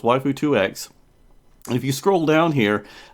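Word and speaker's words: waifu2x: commenter on my last video who corrected my pronunciation so it's waifu 2X if you scroll down here uh they you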